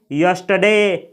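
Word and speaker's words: yesterday: को देख सकते हैं यह जो वर्ड लिखा गया है इसको रडे नहीं पढ़ा जाता है इसमें जो यहां का आर होता है यह साइलेंट होता है इसको पढ़ा जाता है यस्टरडे यस्टरडे यस्टरडे यानी बीता हुआ कल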